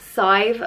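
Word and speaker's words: Sadhbh: is scythe and it's spelt sa d hbh and it is pressed scythe like rhyming with five and scythe is the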